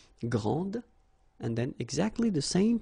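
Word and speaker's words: grande: final s okay so gr and then say same thing here and regarding the feminine form you will pronounce it Grand okay don't insist on the final but then pronounce this D Grand and then exactly the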